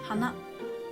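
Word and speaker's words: はな: flowers i pronounce hanagasti as i pronounced nose had a frat accent and rauer had ending high accent as i told of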